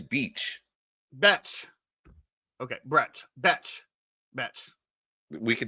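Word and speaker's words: Bech: Beach. Betch. It's B-E-C-H. There's no A, so Betch. That sounds too close to bitch. If there's no A, then why would you think that it's beach? Betch.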